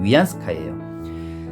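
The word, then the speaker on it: 袁世凯: 중국 발음으로 위안스카이예요.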